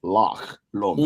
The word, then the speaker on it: Loch Lomond: So Like we the thought pronunciation is Loch Lomond.